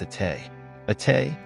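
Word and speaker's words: Été: journey to Montreal with a Tay aay pronounced it which is French for summer is a game launching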